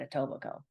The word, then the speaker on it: Etobicoke: iobo it's a weird word it's a weird spelling and it is not pronounced oke this is a large